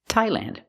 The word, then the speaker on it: Thailand: Also remember the TH doesn't make a th or th sound, it makes a real T. Thai. Thailand.